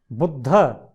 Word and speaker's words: बुद्ध: बुद्ध, मेरे साथ बोलिए बिल्कुल, बुद्ध, ब में छोटे ऊ की मात्रा, बुद्ध नहीं, बुद्ध, द्राक्षा, अश्व, विद्वान, विद्वान।